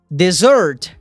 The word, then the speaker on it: dessert: Cuidado para você não confundir ela com essa outra palavra, que tem apenas um S e a pronúncia é desert, que é deserto. Então observa bem. Dessert, 2 S's, sobremesa.